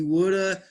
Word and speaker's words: would have: there you go he woulda caught his flight and sometimes they char plumb right exactly sometimes when we're speaking it sounds like woulda we don't spell it this way it just sounds like this like gonna wanna woulda